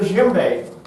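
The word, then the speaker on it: djembe: And then uh next one I have to show you is the jimbe. Dj. That's how they spell it.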